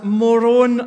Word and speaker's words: Moroni: The Latter-day prophet was known as Moroni. It's spelled M-O-R-O-N, Moron, but with an I on the end.